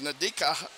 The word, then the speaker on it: Nadika: Nadika, I'm trying to pronounce her name. It is Nadika.